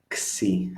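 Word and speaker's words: ξι: Xi, the pronunciation.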